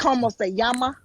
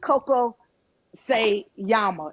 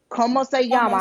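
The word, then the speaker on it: Cómo se llama: Como se llama, not Coco se llama. It's Como se llama.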